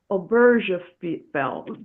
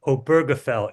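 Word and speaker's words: Obergefell: Um, Ben also wrote the novel The Spring Before Oberll. Ben, you're going to have to spell or pronounce it correctly for us.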